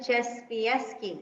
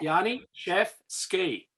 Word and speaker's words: Janiszewski: So it's Janiszewski, is that right? Gee, good attempt. Phonetically, it's Yanni. Yanni? Chef. Yeah, Yanni, chef, ski.